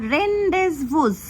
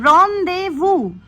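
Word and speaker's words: rendezvous: Last যে final ওয়ার্ডটা লিখেছি দেখে নাও স্পেলিংটা, এটাকে তোমরা অনেকে প্রোনাউন্স করো রেন্ডেজভুস, বাট এটার কারেক্ট প্রোনাউন্সিয়েশন হবে রনদেভু। তো এবার তোমরা আমাকে বলো, এই যে লাস্ট যে স্পেলিংটা আমি লিখলাম রনদেভুর মানে কি কেউ জানো?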